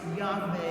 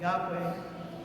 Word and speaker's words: Yahweh: ineffable name of God, which some might pronounce Yahweh or Yahweh, possibly meaning He will cause to be.